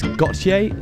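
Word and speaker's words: Gotye: It's Gautier, someone that I used to know.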